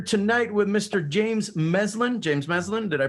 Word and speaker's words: James Meslin: James Meslin, did I pronounce that right?